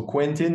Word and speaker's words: Quentin: mean whatever like you how do you say uh Quentin Tarantino yeah same so Quentin like when I was